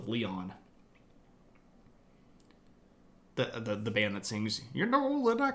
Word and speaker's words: Leon: Leon but I think they actually pronounced themselves Kings of leyon the the band that